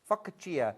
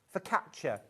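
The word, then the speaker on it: focaccia: Fakia. Is it fauacia? I can never say it properly. Facia. For catcher. For catcher. Thank you.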